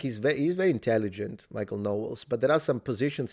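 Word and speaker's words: Knowles: more libertarian than a Michael Owens. Michael Owens sometimes has made statements. I've I've watched this debate between Michael Owen. No, sorry. Am I mispronouncing it? How is it called? No. Michael Noles.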